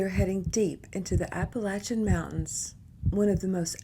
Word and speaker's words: Appalachia: If you're not from Appalachia, you probably say Appalachia. I only ran into one Midwesterner in my entire lifetime when I was telling them about where I'm from. I'm from Appalachia. They said it's pronounced Appalachia. I said, oh, bless you.